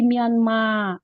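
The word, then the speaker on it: ミャンマー: Nah, ini Myanmar kenapa jadi mianma?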